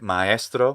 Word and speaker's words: maestro: Italian way of saying a word like maestro, which is in fact 2 syllables, and not easy.